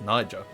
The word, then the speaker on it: Niger: And yeah, make sure you pronounce this correctly. That is Niger getting uh Okay.